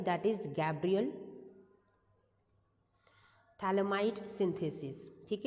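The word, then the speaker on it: phthalimide: हैं that is Gabriel थैलमाई synthesis ठीक है थैलमाई के अंदर पीएच आपका साइलेंट होता है इट्स अ थैल इमाइड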